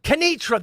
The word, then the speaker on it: Canitra: Canatra. Mr. DeSantis. How would I say that name? I was going to say Canitra. Canitra, that is it.